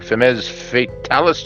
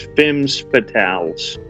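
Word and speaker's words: Femmes Fatales: Roberts congratulations rainbow NCW I'm going to say it wrong feminist Fatalis Champion it's fems fatales what he said Harry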